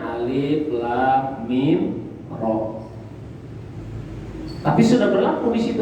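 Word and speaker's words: المر: Alif, lam, mim, ro, ia bacanya alif, lam, mim, ro.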